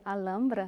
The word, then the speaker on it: Alhambra: sobre a Alhambra, porque a pronúncia é Alhambra, Alhambra. né? Não falta aí a pronúncia espanhola, né?